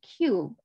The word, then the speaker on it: cube: Yeah, E 不发音 keep silent for E, later E.